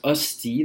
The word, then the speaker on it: hostie: An hostie, it's pronounced hostie, that's the proper way to say it.